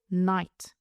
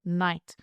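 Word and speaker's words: knight: The word is night. K-N-I-G-H-T. K-N-I-G-H-T. Caballero, night.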